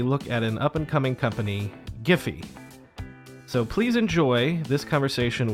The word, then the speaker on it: Giphy: debate but the authority the official pronunciation is giffy so the hard G but just dad the